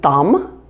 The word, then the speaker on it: thumb: Most of them are where the B follows the letter M at the end of words. Some examples include thumb, bomb, and comb. In addition, the largest number of these silent B words have a short U sound.